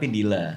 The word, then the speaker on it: Dila: Oh not Baila, but Dila.